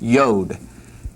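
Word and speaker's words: יוד: letter and it's pronounced yode. Yod. Yod yode. Be careful not to extend it down too far. Yod yode. Yod yode. Yod yode. Sounds like Rocky. Yo. Adrian.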